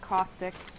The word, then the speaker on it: Caustic: And that's how it's spelled, is that how it sounds? It's like caustic.